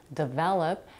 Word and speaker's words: develop: more challenging for example the word develop has three syllables the primary stress falls on the second syllable the while the first syllable D and the third one L are unstressed in some books unstressed